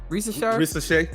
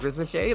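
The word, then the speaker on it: Risacher: I think ER is pronounced as A. Yeah. That's right. Yeah. All right. So it's not that I don't like Rissachet.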